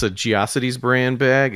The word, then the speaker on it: GeoCities: Is it pronounced Jocities? What the fuck was that? I always It's said GeoCities. What the It's what is GeoCities. Jocities? It's GeoCities then.